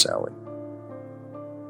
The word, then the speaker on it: Samhain: They celebrated Samhain, pronounced Samhain, marking the end of the harvest and the onset of winter, a season often associated with death and the supernatural.